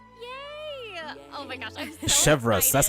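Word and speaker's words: Chevreuse: voice of chevas yay oh my gosh I'm chevas that's how you say her name okay fair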